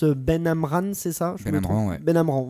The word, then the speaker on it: Benamran: Benamran, voilà. Il le prononce comme ça, lui.